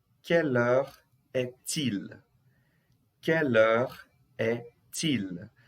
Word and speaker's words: quelle heure est-il: Quelle heure est-il? Aqui eu faço a ligação, tá, gente? Aqui eu estou fazendo a ligação. Quelle heure est-il? O T aqui fazendo ligação com il.